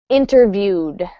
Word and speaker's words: interviewed: interview for a job how do you pronounce interview interview with um interviewed interviewed interviewed yep so the ED ending gets a dese and but not an extra syllable interviewed ok thank you